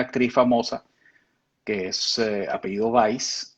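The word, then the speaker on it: Weisz: En Europa pronuncian Weiss, que significa blanco en alemán. O Y sea, que en ese momento se escribía con Z. con Z. Sí, Ese sí. W-E-I-S-Z. Por cierto, hay una actriz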